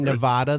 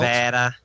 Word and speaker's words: Nevada: By the way, I think if you say Sorry. Nevada, the people in Nevada get angry at you because it's Nevada.